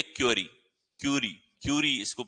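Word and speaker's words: curie: आगे देखें तो ये हमारे पास में रेडियो विखंडन जिसकी इकाई होती है क्यूरी, क्यूरी, क्यूरी इसको प्रोनाउंसिएशन होता है।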